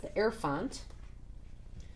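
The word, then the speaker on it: Hierophant: is number five and it's pronounced the air font and this one's about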